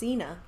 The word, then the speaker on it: Xena: is Zena, or how do you say that? Zena? I think it's Xena. Yeah, like Xena. the warrior princess.